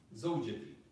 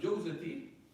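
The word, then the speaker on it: زوجتي: But it's actually zawjati. Someone says talaqtu jawzati, and they're in a land where they say that, or people who mispronounce in that way.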